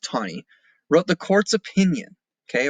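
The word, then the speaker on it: Taney: court rules Chief Justice Roger B tani and that is pronounced tiny wrote the courts opinion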